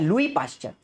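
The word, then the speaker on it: Louis Pasteur: अब ये जो शब्द है वायरस, ये वायरस शब्द पहली बार किसने इस्तेमाल किया था, लुई पाश्चर। एस साइलेंट होता है, मेरी बात समझना, लुइस नहीं बोलना है, लुई पाश्चर।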